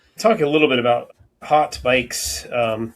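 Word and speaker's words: haute: Yeah, I can I can talk a little bit about hot bikes. Um, it's spelled hot with the French word hot.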